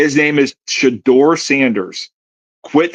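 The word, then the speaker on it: Shedeur: His name is Shador. Say his name correctly.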